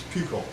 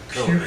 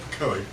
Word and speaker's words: Pukekohe: Yes, if you look at it, it's Puco, but it's actually said Pukekohe. Puco? Yeah. Right there. Where is it? Right there. Puco. Puco. But it's pronounced Pukekohe.